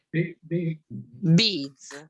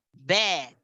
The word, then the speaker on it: bead: Beads, bravissimo. Bead, che è scritto B-I-A-D, ed è quel EA, è una pronuncia che spesso viene pronunciata bad, poteva essere, invece è bead, per cui non è